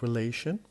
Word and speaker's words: relation: Relation, in this word we have 3 syllables, and the stress is on this 2nd syllable, the one in the middle, because we have ION, and whenever we have ION as a suffix, the stress moves to the one before the last.